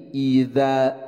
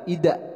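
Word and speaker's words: إذا: Idza. Nah, kemudian untuk huruf za jangan sampai tertukar dengan huruf yang sejenis yaitu huruf da. Ini adalah huruf za, jadi dibacanya adalah idza bukan ida, tapi idza zulzilatil ardu zulzila.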